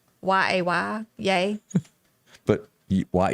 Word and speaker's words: Ye: you tell me uh yay why is that how you pronounce it yeah this is going to be his new name that he's applying for y e yay didn't rm is a different way to pronounce it yay ye i don't know why